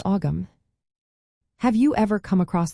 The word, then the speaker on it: Ogham: The middle GH is generally silent or softly pronounced, so it does not sound like a hard G. You will find that the word is typically spoken as one syllable.